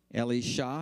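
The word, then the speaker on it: Elisha: is Eli Yahoo and Ellie Shaw that's how you would pronounce Elijah Ellie Shaw his Apprentice Eli Yahoo wore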